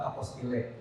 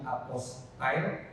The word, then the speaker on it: apostille: Nah, tapi karena ini dari bahasa Perancis yang pas menggunakan konteks pertama dari Perancis itu penggunaan pengucapan aposti adalah aposti. Seperti yang tadi Pak Kakan sampaikan pengucapannya aposti. Tapi tidak salah juga kalau kita mau mengucapkan apost atau apostile. Tapi takutnya ketika kita ke luar negeri berbicara dengan orang yang benar mengucapkan apostinnya jangan lagi apostile aposile tapi cukup apos ya.